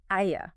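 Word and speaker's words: Ἰά: And how did he spell that two-letter form in Greek? He spelled it iota alpha, Aya.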